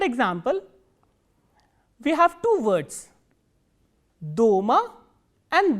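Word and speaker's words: дома: In the first word, the vowel O is stressed. So, how will we pronounce this word? Do-ma, do-ma.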